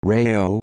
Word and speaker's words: Rao: Joseph Toph Joey Rao, pronounced Rao, also known as Joey